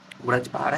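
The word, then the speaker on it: वज्र प्रहार: ब्रज प्रहार या फिर सही उच्चारण है ब्रज प्रहार। यह हमारी कंटेंट टीम जो है कि गलत गलत लिख दिए हैं। आप लोग माइंड मत कीजिएगा। व्रज प्रहार है।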